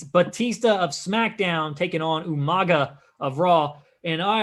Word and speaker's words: Umaga: And I always love the way William Regal announces Umaga's name. Umanga! I don't think anyone really ever wanted to tell him that he was kind of pronouncing it wrong, so they just rolled with it.